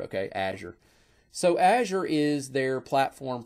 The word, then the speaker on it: Azure: azure and guess what they don't say it the same way either they call it something different too so that's how I say that word okay Azure so Azure is their